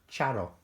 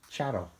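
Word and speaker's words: Txaro: world I used to know a girl called Charo and her name is spelled t-x-a-r-o and it's pronounced shadow she was a lovely girl and and a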